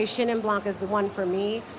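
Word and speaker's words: Chenin Blanc: someone who could potentially teach you how to pronounce it correctly but I would say shinan Blanc is the one for me that I'm often times having to say it's shinnan Blanc right cuz people like Shand Dawn exactly we're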